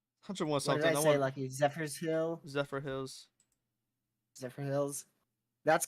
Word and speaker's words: Zephyrhills: it I said it right Hunter Zephyrs Hill Zephyr Hills Zephyrhills that's correct really Liam's from Florida so